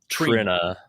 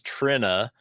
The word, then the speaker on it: Trina: her name is pronounced Trina. Trina, right? Trina. No, it's it's Trina as as if it as if it had two N's in it, but it doesn't.